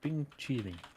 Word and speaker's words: 冰淇淋: Bing Quilin, or chilling. Bing chilling.